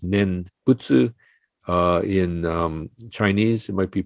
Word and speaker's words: nembutsu: chinese characters for nembutsu in japanese we pronounce this nen butsu in chinese it might